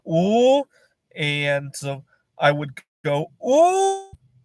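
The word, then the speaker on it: 五: In Chinese, five is pronounced "oo," and I would go "oo" when I didn't want to wake up.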